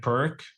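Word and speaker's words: Pirc: opponent plays the perch I think it's pronounced p i r c I've always pronounced it like perk yeah me too but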